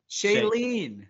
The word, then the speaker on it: Shailene: Stan Pete Davidson uh how do you pronounce Cheyenne Woodley again Shailene Shailene Woodley I I did say